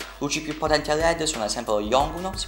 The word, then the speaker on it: Yongnuo: Luci più potenti a LED sono ad esempio lo Yongnuo, si pronuncia così, 300 LED.